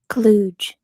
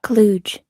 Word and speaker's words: Cluj: Cluj. Oh, wait. Okay. Is that right? Cluj.